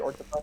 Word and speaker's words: Orcdefy: I'm here today with Orctify. Is that how I pronounce that, by the way? Yep. Orctify?